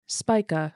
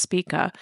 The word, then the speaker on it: Spica: Spya, sometimes pronounced Spika, is the brightest star in Virgo, one of the constellations of the zodiac in which the sun passes through.